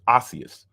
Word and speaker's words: osseous: Osseous. Okay, I was saying it wrong. Consisting of or turned into bone. Ossified. Okay, so it's osseous.